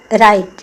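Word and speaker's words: write: राइट, इसमें W silent है।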